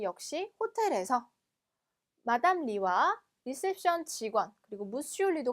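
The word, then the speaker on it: lit: 자, 침대는 불어로 리, 리. 자, 마지막 때는 발음이 안 되죠, 그쵸?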